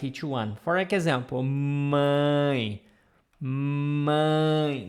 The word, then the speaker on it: mãe: For example, mãe, mãe. Nasal sound here. Mãe, If I would write in English for you to read, it would be something like this. Mãe. Like ing. Mãe, mãe.